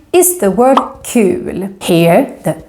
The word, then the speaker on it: kul: Anyway, kul is a useful word, and remember that it's pronounced with a long U.